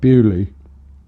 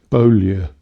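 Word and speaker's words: Beaulieu: We played two at the Shepherd's Bush Empire and one at um at Bulley down in near um in the New Forest. Bolia, it should be pronounced, but that's that's just me.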